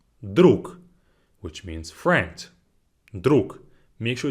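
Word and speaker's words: друг: let's get right into this first word is druk druk which means friends make sure it's repeat after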